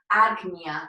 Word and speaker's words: Ajna: um our eyebrows and it's pronounced agnia in sanskrit so this is the